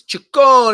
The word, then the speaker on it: Ciccone: What is it? Cachone? I mean, it depends on who you ask. I would pronounce it, as an Italian guy, as Ciccone.